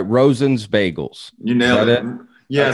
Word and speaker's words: Rosen's: i saying this right rosen's bagels you nailed it yeah the most common mispronunciation people go rosin like right okay rosin